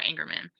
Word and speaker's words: Engerman: panel um and yes you are pronouncing my name exactly correctly which is people here often say it the wrong way but you're all you're saying it exactly right ingerman um so I'll just